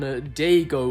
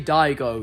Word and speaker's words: Daigo: Now, these next few audio clips are very interesting as they focus on Dago, or should I say Daigo? Yeah, I've been saying his name wrong for like the past 3 months.